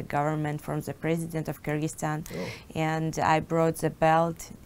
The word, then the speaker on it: Kyrgyzstan: know speaking of growing up I've tried to pronounce where you are from and I can't do it can you help me it's Kyrgyzstan Kyrgyzstan yeah I did have it then he